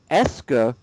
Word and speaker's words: est-ce que: And the pronunciation is like this. E-H-S-K-U-H.